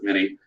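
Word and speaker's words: minié ball: But nonetheless, these heavy lead bullets that are conical, a French guy invented it, mini ball, how they pronounce it, mini.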